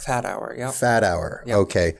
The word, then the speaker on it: Fathauer: Fathauer. Fathauer. Fathauer. Yeah. Fathauer. Yep. Okay. So the with the H is silent essentially.